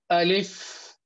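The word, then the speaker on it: ألف: Alif is pronounced like that. Alif, Alif, Alif, Alif. It has got fa at the end.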